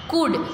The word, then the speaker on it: could: कुड, COULD, कुड, हम उसको कुल्ड नहीं कहते।